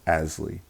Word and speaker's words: ASLE: The acronym for that is ASLE, and it's pronounced ASLE.